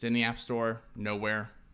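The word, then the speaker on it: Knowhere: Nowhere, spelled with a K.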